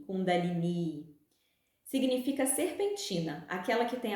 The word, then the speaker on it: Kundalini: O termo é feminino, deve ser sempre acentuado e com pronúncia longa no final. Kundalini.